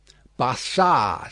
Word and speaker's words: Barsad: "Bassard," said Defarge, making it French by pronunciation.